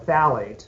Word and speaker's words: phthalate: The important thing there is that there's an ingredient called a phthalate. It starts with a P, but it's pronounced like it's with a T.